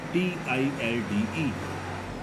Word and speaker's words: tilde: This symbol is tilde, T-I-L-D-E. Here L is silent, so this is tilde.